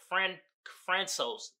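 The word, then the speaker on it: François: It's not pronounced Francis. It's like Francos Uzan.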